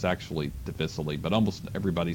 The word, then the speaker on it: difficile: finally this one clostridium deficiency and sometimes that's pronounced difficile but it's actually deficitly but almost everybody says difficile and or commonly known as c diff that's